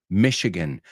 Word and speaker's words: Michigan: The next one is Saginaw, Michigan, and Saginaw, Michigan is where they first were born in Michigan, even though they didn't grow up in Michigan. Fijaos que la CH en inglés es SH, Michigan, Chicago, Michigan, Illinois, no